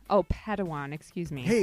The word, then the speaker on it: padawan: a pad one to this bold jedi it's pronounced padawan oh padawan excuse me hey it's getting late i think